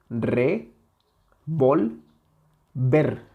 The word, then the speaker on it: revolver: Si le quitamos esa intensidad a la penúltima sílaba, quedaría revolver, revolver, revolver. No es lo mismo revolver que revólver, ¿ok? Revolver, revólver.